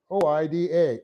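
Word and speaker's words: οἶδα: Next, we have the idiomatic use of the present active indicative of the verb oida, O-I-D-A, oida.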